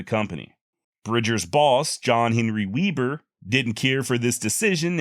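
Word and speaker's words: Webber: is Weber w-e-b-b-e-r and Weber is how his modern descendants pronounce it the german-born Weber however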